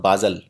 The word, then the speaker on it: Basel: It is pronounced basil. Some say call it basil also.